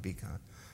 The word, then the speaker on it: Vikan: I pronounce it Vikan.